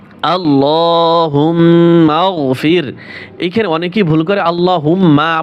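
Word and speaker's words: اللهم اغفر: করে শিক্ষা দেবো ইনশাল্লাহ হামজা লাম জবর আল লাম খারা জবর ল হা মিম পেশ হুম আল্লাহুম মিম গাইন জবর মা আল্লাহুম্মা ফাজর ফির আল্লাহুম্মা আল্লাহুম্মাফির এখানে অনেকেই ভুল করে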